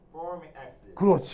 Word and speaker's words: formic acid: 일본 사람들은 이게 폴믹 이게 발음이 잘 안 되거든요. 그래서 이제 포름산 이렇게 발음했던 걸 우리가 이제 따라서 포름 이렇게 했던 거죠.